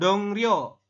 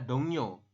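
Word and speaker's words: 동료: tuh seperti ini tetapi membacanya bukan dong Rio cuma dibacanya adalah dongyo dongyo artinya adalah rekan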